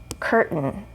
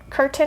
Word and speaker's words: curtain: and that's okay but better to say curtain if you want to sound more native and reduce that accent again we have a vowel sound or sorry here we have our r sound actually kurt and then we have the vowel which is emitted so we're just going to go straight to that end curtain curtain is okay but curtain is better last example here mountain